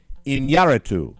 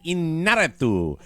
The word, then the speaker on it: Iñárritu: I'm going to pronounce it Iñárritu. On Tuesday, the internet exploded following a report that Oscar-winning director Alejandro González Iñárritu, I hope I got that pronunciation right.